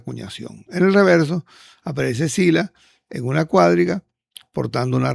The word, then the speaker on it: Sila: Y esta es una otra cuña que se conoce de finales de Zula o de Sila. En castellano se dice sila.